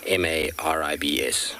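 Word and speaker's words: Maribye: m a r i b y e and pronounced m-a-r-i-b-s maribs so there we go i should be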